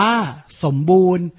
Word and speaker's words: สมบูรณ์: นี้ ที่ อ่าน ว่า สมบูรณ์ ไม่ ออก เสียง น เณร กับ การัน นะ ขอ รับ 2